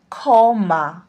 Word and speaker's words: ক্ষমা: ক্ষিয় যদি কোনো শব্দের প্রথমে বসে, তাহলে এর উচ্চারণটা হয় খ। যেমন ক্ষিয় ময়াকার, তাহলে এটা হবে ক্ষমা। উচ্চারণে এটা কিন্তু ক্ষমা, খ আসছে।